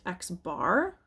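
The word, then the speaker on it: x̄: So this X has a line over it, and that is sometimes pronounced X bar.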